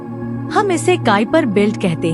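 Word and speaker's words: Kuiper: घेरा है हम इसे काइपर बिल्ट कहते हैं इसका उच्चारण काइ पार है यहीं पर आपको डवा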